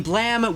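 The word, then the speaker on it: Blame!: Blame? But apparently you pronounce it Blam.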